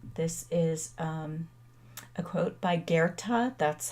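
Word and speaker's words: Goethe: of all time this is um quote by guerta that's how you pronounce his name whatever you can do or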